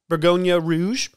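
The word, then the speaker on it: Bourgogne Rouge: find bottle of french pinot noir in america bergonia rouge uh yes that's how you pronounce it oh i was like i'm looking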